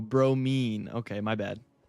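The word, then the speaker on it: bromine: Now it's pronounced Oh, bro mean.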